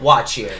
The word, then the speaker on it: What Cheer: we pronounce it Watchier.